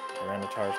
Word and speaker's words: Tyranitar: Rocks means Tyranitar. There's an eye in there. I've been pronouncing that wrong.